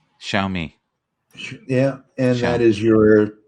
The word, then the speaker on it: Xiaomi: o m i it it's pronounced show me xiaomi yeah and that is